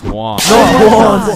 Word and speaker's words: Juan: That's just how it's pronounced. Jan, is there Jawan in the room? It's Juan.